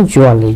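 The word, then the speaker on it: jewellery: জুয়েলারি, জুয়েলারি, এটা দুটো বানান আমেরিকানে একরকম, ব্রিটিশে আরেক রকম, কিন্তু উচ্চারণটা জুয়েলারি।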